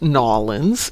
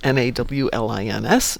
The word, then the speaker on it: New Orleans: So, if you're in the States, New Orleans is pronounced Nawlins. Nawlins.